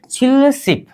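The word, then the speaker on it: 칠십: बोलेंगे छिलसिप इसका उच्चारण क्या होनी चाहिए छिलप उच्चारण कीजिए छिलसिप क्या छिलसिप मतलब कितना हो गया 70 अगर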